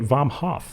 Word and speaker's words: Vomhof: Welcome to the show, Vomhof. Hey, thanks for having me. Dude, I spelled that, or like pronounced that right? Yeah, 100%. Okay, and your Instagram is Vomhof, which is Vomhof.